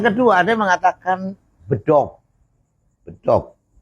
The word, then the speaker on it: bedog: Bedog itu terdiri dari dua kata. Yang pertama kata-kata bi, yang kedua adalah kata dog. Kata bi, kemudian kata dog. Nah, kata ini diucapkan oleh orang Sunda, diucapkan oleh orang Indonesia, oleh orang Jawa Barat khususnya. Sehingga bukan bidog, tapi bedog. Ya. Tapi kalau dengan mengucapkan dengan bahasa Inggris, itu cara mengucapkannya bidog.